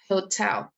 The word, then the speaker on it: hotel: En el primer lugar, H se pronuncia. También tenemos que poner acento en el segundo sílabo. Hotel.